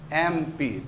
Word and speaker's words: MP: Indefinite article an लगना चाहिए, क्योंकि MP का प्रोनाउंसिएशन कैसे होगा? MP, तो उसमें ए लगा हुआ है ना, इसलिए NMP।